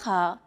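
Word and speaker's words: خاء: The letter kha is a sound that's often used in Arabic between AK and NH sound. Kha. It sounds as though you're clearing your throat.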